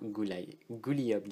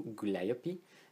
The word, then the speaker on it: Gooliope: Sur le côté, vous avez ici son nom, donc Gulliop Jellington ou Gulliopi, dépendant si on prononce en français ou en anglais.